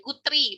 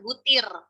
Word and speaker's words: Guthrie: Dan juga tokohnya namanya Guthrie, bukan Gutir. Ya, kasihan dia.